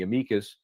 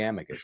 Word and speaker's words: amicus: So we tried to join in the amikas. I like to say amikas. Sometimes I'll say amicus.